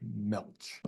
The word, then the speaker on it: Gmelch: baseball Magic by George I don't think that g is pronounced I'm just going to say George MCH very famous article been